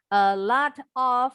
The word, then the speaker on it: a lot of: A lot of, jadi bacanya a lot. A lot, a lot. Kalau orang Amerika, T-nya nih yang di tengah seperti D cepat.